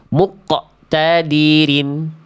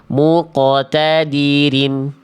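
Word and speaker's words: مقتدرين: Bagaimana cara membacanya? Muqotadirin. Muqotadirin, bukan muqtadirin. Sepertinya kamu tersedak, Bunda. Lepaskan saja suara qaf-nya, jangan sampai terdengar seperti Anda tersedak.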